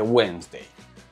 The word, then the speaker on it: Wednesday: es más fastidioso porque se escribe wednesday pero se dice wday se escribe salmón pero